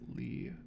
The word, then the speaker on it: Lie: In mathematics, the lie group pronounced Lee group um is is a